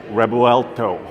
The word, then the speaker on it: Revuelto: storied manufacturer the Lamborghini revolto yes the name is right there it is pronounced with a B because of course as